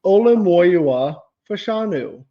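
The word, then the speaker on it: Olu Fashanu: him say his name so many times it's olua fanu I have listened to it three times since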